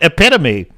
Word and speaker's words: epitome: dday Cobra the commander I'm certain I've heard him say epitome uh but Dave C's one of the few he nailed it epitome the epitome of female